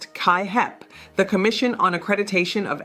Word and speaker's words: CAAHEP: Your educational program must be accredited by CAAHEP, pronounced KaiHep, the Commission on Accreditation of Allied Health Education Programs.